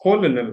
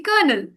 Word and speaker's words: colonel: So means colonal, right? No, that Yeah, but it's supposed to be kernel.